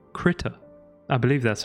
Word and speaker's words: Krita: But the software I want to be using today is called Krita.